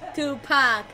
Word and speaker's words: Tupac: Yeah, Tupac. I say to, ya say pack, to pack, to pack. Easy. Pack. I heard about someone says Tupac. I heard about it. Someone says Tupac.